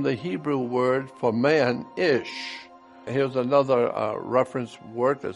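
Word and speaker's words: אִישׁ: Hebrew word for man ish here's another reference work that said interesting the words for man and woman in Hebrew is identical man in Hebrew is pronounced ish and looks like this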